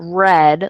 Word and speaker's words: read: And then read, like I read a book, and red, the color red, they sound the same, but they're spelled differently.